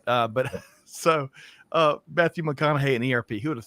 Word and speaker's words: McConaughey: the better half she's taught me how to pronounce his name correctly and is Matthew mcconaugh hey yeah I think I think I got that right there Greg White uh but so uh Matthew McConaughey and Erp who would have thought but Greg